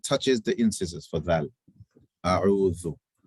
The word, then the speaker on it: أعوذ: So the tongue touches the tip of the tongue touches your incisors when you pronounce the Dhal. When you pronounce it, not after it. A'u. Slow it down. Everybody slow it down. A'udhu. أعوذ.